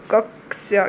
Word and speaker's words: कक्ष्या: उन्हें कहते हैं अकारांत कक्ष्या शब्द का शुद्ध उच्चारण क्या होगा कक्ष्या क्योंकि यह क्या है कक्ष्या तो शुद्ध उच्चारण कक्ष्या विराम चिन्ह के बारे